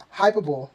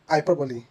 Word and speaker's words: hyperbole: Did you say epitome or hyperbole? Wrong. They should be pronounced as epitome, epitome, and hyperbole, hyperbole. The E at the end is pronounced, making these words 4 syllables instead of 3.